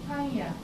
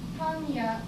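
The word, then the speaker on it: パン屋: pan means bread, and panya ya means store here. So it's a bakery, store of bread. It's a bakery. Panya. When you say panya, I'm not saying N sound here. Panya. It's just sound.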